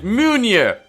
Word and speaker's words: Munir: It's Munir! Munir! Munir! 3 syllables. It's not that hard. Moonier, okay.